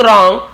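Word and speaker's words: wrong: और या फिर समथिंग रॉन्ग कुछ गलत था, डब्ल्यू साइलेंट होता है, डब्ल्यू आर, जैसे राइट है ना, और रॉन्ग और देखें डब्ल्यू आर एक साथ है तो डब्ल्यू साइलेंट रहता है।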